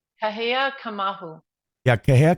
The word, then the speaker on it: Kamauu: Kahea Kamal. Yeah, Kahea Kamal.